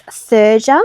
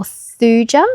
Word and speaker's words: thuja: And then there is thuja or thuja, I think some people pronounce it differently.